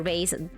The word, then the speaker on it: bass: Okay, so bass or bass depending if it's the fish or instrument.